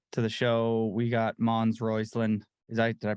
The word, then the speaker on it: Mons Roisland: welcome to the to the show we got mons royceland is that did I pronounce that right yep all good hell yeah